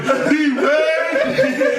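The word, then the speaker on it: D'Wayne: Yo, when you see him, yeah, don't call him Jaime, no, call him D-Wayne.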